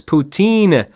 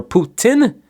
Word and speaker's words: poutine: gravy and cheese curds poutine or Putin as you might hear in certain parts of Canada number six what popular